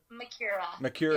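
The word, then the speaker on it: Macura: Makura.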